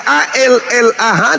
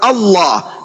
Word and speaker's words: Allah: Begitu juga ketika kami membaca A-L-L-A-H di dalam Bible, itu bacanya adalah Allah, meskipun saudara kami mempelesetkan dengan menyebutnya Allah.